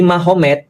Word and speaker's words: Magomed: Kalau kita tahu artinya berarti di sana Muhammad jadi Mahomet. Jadi tulisnya Magomed, tapi bacanya Mahomet, kan gitu kan ya.